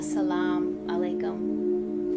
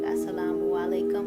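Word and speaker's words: السلام عليكم: that's one way a salaam alaikum not with an eye at the end of it at the end of salaam some people put a u so they might say it like assalamu alaikum but the way that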